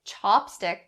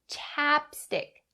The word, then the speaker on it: chapstick: to be aware of the first one is upon the ah sound in chapstick don't change it to the ah sound don't say chopstick otherwise you're talking about the wooden cutlery commonly used in asian countries so ah chapstick chapstick